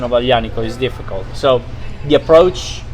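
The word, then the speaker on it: Aglianico: will be exciting so what are the common mistakes when people try to pronounce it and the g is silent yes yeah yeah you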